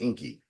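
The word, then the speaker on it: Ingi: I understand speaking of Inky and it's it's spelled i n gii but it's pronounced Inky yeah the G sound like K's okay okay so I'm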